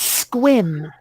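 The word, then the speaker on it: Sequim: looks like it's spelled sequiam right except it's pronounced squin oh a friend of mine lives there yeah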